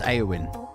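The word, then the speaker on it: Éowyn: a little bit um Jim says it's pronounced aowin okay um I noticed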